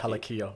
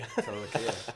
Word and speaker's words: Talakai: And I've learnt to not spell Talakai's name wrong. So, But every single time this man sends me a draft, it's Talaki. Talakia. Talakai. Talakai.